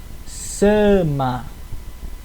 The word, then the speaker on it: sama: continuando temos o s o s do Tupi ele sempre tem som de s s mesmo entre vogais